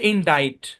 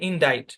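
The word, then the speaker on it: indict: তারপর দেখেন C silent এরকম আরেকটা শব্দ হচ্ছে ইনডাইট এখানে আইটাও লং সাইন দে সাউন্ড দে সিটাও সাইলেন্ট জাস্ট একটা শব্দ আমরা পাইছি এটা মনে রাখবেন ইনডাইট বুঝছেন আচ্ছা তারপর দেখেন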